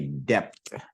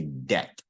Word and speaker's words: debt: So you don't want to say debt. Just that B is silent, so just say debt, debt.